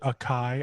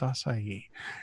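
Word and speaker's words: açaí: sugary fruity that I get the strawberry the pronunciation was fake thank you yeah yeah my-my wife calls it a chi I'm like no it's ossify Yi she's like no it's a chi so it's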